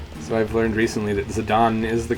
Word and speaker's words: Zidane: So I've learned recently that Zidane is the correct pronunciation. At least I'm pretty sure. Somebody told me that, and I believed them. But apparently it's a common name in French.